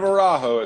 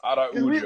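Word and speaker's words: Araújo: Arujo, I like her so much that I'm not even going to complain about pronouncing her name the Brazilian way. Like, Yeah. Instead of Arajo, it's Araujo.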